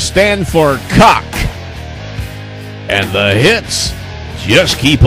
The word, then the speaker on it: C.O.C.K.: And as I said at the very beginning of the show, the initials of the band is C.O.C.K., pronounced cock.